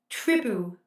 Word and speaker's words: Tribu: Disneyland Paris have launched a new Tribu ticket, spelled Tribu. Tell me if I'm spelling that, pronouncing that wrong. Tribute, without the T.